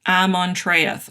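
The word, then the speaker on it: Ammontraíeth: How do you say that again? Amontreath. Oh, that's how I said it.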